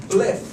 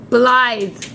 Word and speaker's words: Blythe: This pronunciation is Bliff. I don't know. Like this. Oh, Blythe.